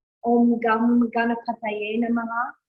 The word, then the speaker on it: gam: So all those key bija mantras like Om Gam Ganapataye Namaha, you might see it spelled G-U-M, but it's G-A-M, Gam, right?